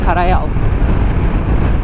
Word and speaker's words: Karajal: Karajal. Karayal. J'ler Y diye okunuyor.